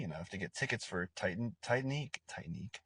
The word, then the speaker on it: Titanique: See him soon if you're lucky enough to get tickets for Titanique. I think that's Titanique. That's how you say it.